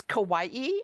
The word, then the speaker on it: Kawaii: Now, do you pronounce this as, it looks like it rhymes with Yeah. Hawaii. Yeah, yeah. So this is a preview copy that just came out. And so it's Kawaii, applique quilts from Japan.